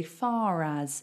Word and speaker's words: far: we say far far we don't pronounce the r but actually we do if the next word starts with a vowel we pronounce it because